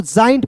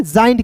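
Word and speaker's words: giant: एन टी को दोस्तों जॉइंट पढ़ेंगे देखिए जी ए जी के देखिए जी ए आई एन टी तो जी ए क्या दोस्तों ए आई है तो इसका उच्चारण किसके रूप में करेंगे? जॉइंट के रूप में करेंगे।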